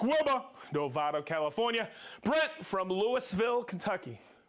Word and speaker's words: Louisville: No? No, don't say it like that. Louisville. Louisville? Louisville. Just keep going. Louisville. So that's one of those things. You move up in this territory, it's Louisville. All right, we have Bahama Brian, Mr.